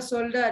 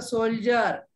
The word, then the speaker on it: soldier: Mansi, the pronunciation of word is not a shoulder, it's a soldier.